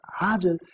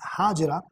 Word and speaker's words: Hajar: Not long before Sayyidatuna Sara radiallahu ta'ala anha, Sayyidatuna Hajar had a similar experience. It is also pronounced as Hajira, but actually the pronunciation which is found in books is Hajar. So that's what we are using.